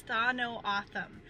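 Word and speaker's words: Tohono O'odham: The common pronunciation of this tribe is Tha No Atham, And I will put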